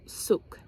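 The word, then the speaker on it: soek: This is how it's spelled, but it said they say it souk.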